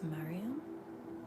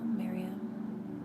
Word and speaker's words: Miriam: Victory of, I believe it's Mariam. I hope I said it right. No, Miriam. Miriam? Miriam? Okay, they're saying it's more Miriam.